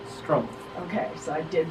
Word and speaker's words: Struempf: I am here with, I'm gonna botch your last name, it's Struempf? Struempf. Okay, so I did pronounce it right.